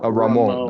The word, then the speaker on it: Ramon: Yeah, and normally we're going to pronounce that Ramon with the schwa. Ramon.